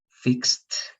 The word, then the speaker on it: fixed: You need to know when you're going to pronounce the ED like T, watched, washed, liked, traveled, fixed, and when you're going to pronounce that like ED, like wanted, started, right?